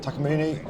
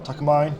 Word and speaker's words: Takamine: Here we got Takamini or Takamine depending how you like to pronounce it.